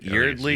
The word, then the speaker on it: Yeardley: Yeardley Yeardley Smith. Yeardley Smith.